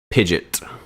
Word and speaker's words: Pidgeot: We have the Mega Evolution Pidgeot. I'm going to say Pidgeot, not Pidgeot, because it's spelled like pigeon with a T.